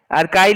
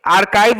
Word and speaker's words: Archie: Second आर्काई, आर्काई लिख लोगे? आर्काइव नहीं, आर्काई है, स्पेलिंग सुनना ध्यान से, ARCHIE, आर्काई, ARCHIE।